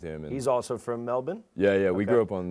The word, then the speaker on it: Melbourne: And it's like, now I know how to pronounce. I always correct people, like, actually, it's Melbourne.